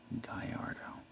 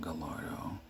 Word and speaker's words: Gallardo: is a lamborghini people get a hard time pronouncing this is the lamborghini gallardo not gallardo or any weird name and the weird pronunciation